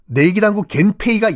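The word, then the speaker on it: 源平: 발생을 해요 원평전쟁이라고 합니다 일본식 발음으로는 겐페이 전쟁이거든요 원평을 일본식으로 바라보면 겐페이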